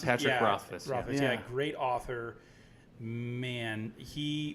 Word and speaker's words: Rothfuss: So Rothfuss is a great Rothfuss, that's how you pronounce it? Patrick Rothfuss.